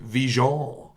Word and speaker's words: Vigeant: older alumni were like, we have been pronouncing it Vigeant forever. And I was like, please continue. I have no problem with that. It sounds way more sophisticated that way. It's absolutely the way it's supposed to be pronounced. It's just, we moved here and somebody decided it's Vigeant.